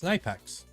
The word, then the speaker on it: Knipex: Tell a German how you pronounce Knipex. It's Knipex.